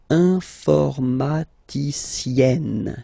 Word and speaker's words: informaticienne: And you get the sound informaticienne. Sienne. Remember E and then double N, or then it could be double L or double consonant here. You open your E, so it's E. Informaticienne.